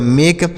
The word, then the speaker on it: make: तो यह हो गया मेक, यानी लास्ट में ई रहेगा, इसका उच्चारण नहीं करेंगे और इसका उच्चारण ए की मात्रा करेंगे, ऐसे लगाएंगे, ए की मात्रा लगा देंगे।